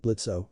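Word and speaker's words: Blitzø: "Luna Carnival, is it true that you were adopted by said imp Blitzo, oh is silent, when you were 17?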